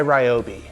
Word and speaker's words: Ryobi: These are made by Ryobi. And before you leave a comment, I know it's pronounced ryobi.